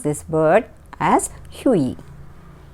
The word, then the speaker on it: Hughie: So we had to pronounce this word as Hughie. Hughie, G is silent.